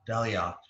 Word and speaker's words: Dalyac: friends and we have the pleasure of daliot is that the correct pronunciation it is hello so much for